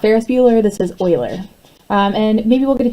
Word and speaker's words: Euler: Euler's method and yes that word is pronounced like oil not Euler not ferrisbueller this is Euler's and maybe we'll get